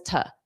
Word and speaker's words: to-do: To do. Ta ta. Pronounce that as ta.